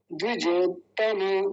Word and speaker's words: द्विजोत्तम: देखिए यहाँ हल्का सा रुका जाएगा इस त पर, लेकिन जब साथ साथ बोलेंगे तो फिर इसी में जुड़ जाएगा ये, द्विजोतम, द्विजोतम, द्विजोतम नहीं, तम नहीं होगा, तम ऐसा, द्विजोतम हो गया।